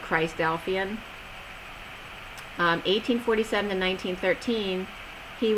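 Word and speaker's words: Christadelphian: how they pronounce it Chris delphian but like Philadelphian but Christ delphian um 1847 to 1913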